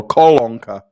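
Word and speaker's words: колонка: 30 here so uh kolonka is it kalonka waterspout how do you say it again oh kolonka sorry yeah my wife was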